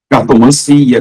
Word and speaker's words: cartomancia: Tudo que termina em ancia tem a sílaba tônica si. Cartomancia, quiromancia, melancia, tá bom?